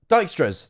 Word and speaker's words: Dijkstra: about it now how do you say it dijkstras dijkstra's that's it i'm saying it wrong dijkstra's